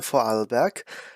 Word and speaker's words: Vorarlberg: on to the second election which is the fall back that's how you pronounce it local electro state elections just two